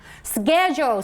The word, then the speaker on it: schedule: very mindful of the schedule so this is what kind of pronunciation this is actually american the british english version should be scheduled okay schedule it's schedule schedule this is british english but american one